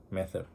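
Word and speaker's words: μήτηρ: palabra y obviamente la palabra madre es meter pero pronunciarlo bien meter y es una palabra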